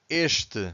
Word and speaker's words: este: The word starts with ES consonant, but we have to stress the first syllable. So in this case, we have to say este, so you can clearly hear the first syllable.